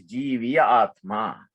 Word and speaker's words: Jivatma: So you just say Jivatma, right? Actually, the right way to say it is Jiviya Atma. Jiviya Atma, right? But we say Jivatma, Jivatma, Jivatma.